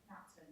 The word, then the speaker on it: Napton: Have I pronounced that right, by the way? Napton, yeah.